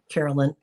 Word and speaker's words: Carolyn: Did I say it wrong? I'm sorry. Yes, Carolyn. Oh, I said Karen just now. Gotcha. Maybe I said it that way earlier. Yeah. Carolyn is her name.